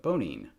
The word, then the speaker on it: Bonine: And so there is this medicine I used to take for motion sickness called Bonein, B-O-N-E-I-N. And I was like, hey, it's pronounced exactly the same as boning, Boning.